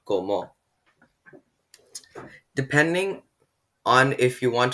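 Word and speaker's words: cómo: means the first syllable is stressed and it's pronounced komo not komo depending on if you want to address a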